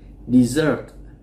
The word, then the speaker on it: dessert: À, các bạn lưu ý sẽ có từ nó gần gần giống như cái từ này, đó là sa mạc. Chúng ta đọc là desert. Desert là sa mạc. Thì một số bạn sẽ đọc nhầm cái từ dessert này với từ desert.